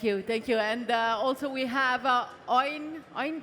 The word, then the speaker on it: Eowyn: And also we have Eowyn, right? Is the right pronunciation? Eowyn Chen.